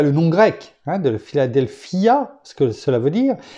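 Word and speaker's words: Φιλαδέλφεια: Philadelphia. En fait, on décompose chaque syllabe. Philadelphia.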